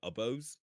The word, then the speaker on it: oboe: flutes or piccolos, or oboes, Hmm. oboe. Hmm. I think that's how it's pronounced. Oboe. Yeah, Um, you got it. yeah, okay. Because I used to call it a bow as a kid.